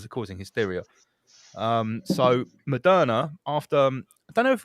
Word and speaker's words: Moderna: And we know who we're investors in Moderna, won't we? Don't we? Mr. Sunak. or another way of pronouncing it is mode RNA.